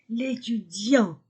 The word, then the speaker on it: étudiant: définis écoutez la prononciation l'étudiant les étudiant l'étudiant masculin singulier le étudiant je supprime e et je mets l'apostrophe l'étudiant je ne prononce pas le T l'étudiant masculin singulier l'étudiantes